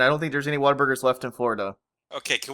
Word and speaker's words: Whataburger: It's Whataburger. It's not Waterburger.